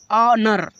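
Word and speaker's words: honour: ऑनर। देखो ओ के पहले एच है इसलिए एच को साइलेंट कर दिया जाएगा।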